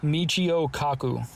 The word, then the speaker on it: Michio Kaku: Michio Kaku. Michio Kaku.